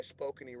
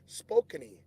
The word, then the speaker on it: Spokane: they're on the yoyad spokini I hope I'm saying that right no disrespect to my spokeny relatives that's what it is see I said it right the first time spokeny that's what it is